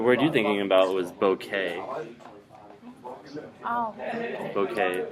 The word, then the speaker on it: bouquet: with this word because you want to say bouquet, but it's not. It's bouquet. Bouquet. Because it comes to us from French, so that last part is just a. The T is silent.